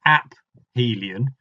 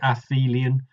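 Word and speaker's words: aphelion: away from the Sun some people soften the ph and say aelan but I'm not as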